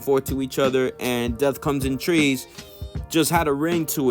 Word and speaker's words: Death Comes in Threes: touches on why uh the name death comes in threes now pronounced death comes in trees you feel me but